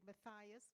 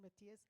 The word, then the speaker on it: Matthias: I pronounced his name wrong. I said Matthias, but thank you for that correction, Matthias.